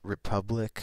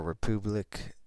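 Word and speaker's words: République: This is Republic or Republic, however you want to pronounce it. It's spelled like the French way.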